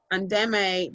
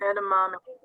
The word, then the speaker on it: edamame: Endeme, but is that soy? I think Edamame. yes. Edamame. Yes, that's how you say it.